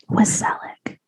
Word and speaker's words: Wasseluk: Wasseluk. It's like Tom Selleck, but with a wa.